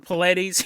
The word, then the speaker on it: Paulides: He walks out on the screen, and he goes, "Hi, my name's David Paulides." He pronounces his name correctly.